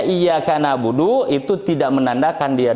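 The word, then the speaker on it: إياك نعبد: Dibacanya iyyaka na'budu, iyyaka na'budu. Coba bayangkan ketika ditahan. Nah itu nahan betul ya? Tekan terus ditahan. Nah, ketika ditahan itu jadi lama disangkanya mad. Hati-hati.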